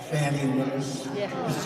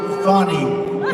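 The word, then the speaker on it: Fani: the horrible case of Fanny it's actually pronounced fonnie it's f a n i but you pronounce it fny a little French accent F but that's a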